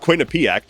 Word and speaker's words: Quinnipiac: And despite Zoron Mani having a double-digit lead in the polling, despite Quinnipiac, which by the way apparently is pronounced Quinnipic, despite Quinnipic putting out